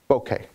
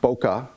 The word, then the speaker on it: bokeh: Bokeh. It's pronounced bokeh. Okay, not Boca.